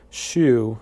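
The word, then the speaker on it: Hsu: And you can order it from a place in Columbus, Ohio, called Shu. It's spelled H-S-U, Shu and Company.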